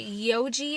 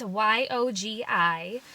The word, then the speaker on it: Yogi: I think you pronounce it Yogi. It's Yogi.